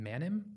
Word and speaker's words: Manim: So help me pronounce it. Is it Manim? Manim, yeah.